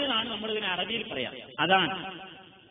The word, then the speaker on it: അദാൻ: നമ്മൾ ഇതിനെ അറബിയിൽ പറയുക അദാൻ ചിലർ അസാൻ എന്ന് പറയും അതാ ഭാഷ ഭാഷാ ഉച്ചാരണത്തിലുള്ള പ്രത്യേകതയെ മാത്രമാണ് നമ്മൾ കണക്കാക്കേണ്ടത് അദാൻ എന്ന് പറഞ്ഞാൽ പ്രഖ്യാപിക്കുക